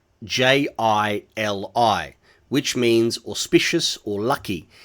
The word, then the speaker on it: Geely: its Chinese pinyin name, Geely, Jili, which means auspicious or lucky, and the J in pinyin is pronounced like the J in Jeep or judge, a soft sound, not a hard G.